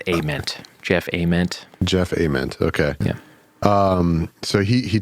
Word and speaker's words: Ament: And so the bass player Jeff, how do you say his last name? Ament? They say, I've always said Ament, but I think it's Ament.